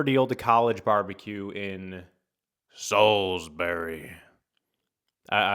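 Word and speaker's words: Salisbury: Similar deal to College Barbecue in Soulsberry. I I was saying Salbury, like the way it's spelled, people were yelling at me. They're like, "You got to say Soulsberry."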